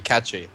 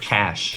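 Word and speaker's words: cache: be pronounced is it cash cash I think that's what the Americans say like C A like cash money they just forget that there's an e on the end ah I see I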